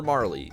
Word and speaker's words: Marle: It's, Marl. Or Marley, depending on how you pronounce that. I personally have pronounced it Marl. That's just how it goes.